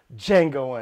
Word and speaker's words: Django: in movies such as django unchained the d is silent oh get him uh